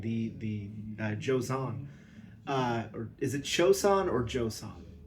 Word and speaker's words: Joseon: Yeah, it's Chosun.